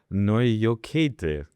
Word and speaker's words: Naujokaitė: Joining me today on the show is Sonata Noyoket. I think I pronounced that correctly, right?